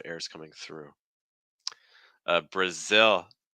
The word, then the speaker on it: Brazil: coming through uh Brazil Brazil starting off with awah Bruh Bruh and then short eye sound on ill ill the tricky thing here for Brazil is the dark L at the end with the short I so it's like ill like you're sick e ill I don't